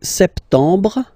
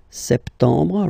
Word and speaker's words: septembre: So, septembre, septembre, septembre. Remember this E-M en septembre.